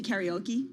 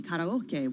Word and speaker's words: karaoke: You say karaoke? Yeah. That's wrong? Well, I mean, you could say the Japanese way and be karaoke, which would be a little too much.